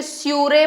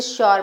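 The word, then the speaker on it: sure: तो इस spelling rule में इतना ही, बट इसमें भी देख लो एक एक्सेप्शन, श्योर, इसे तो स्यूरे पढ़ना चाहिए या स्यूर पढ़ना चाहिए, यू का साउंड, बट इसे श्योर पढ़ा जाता है।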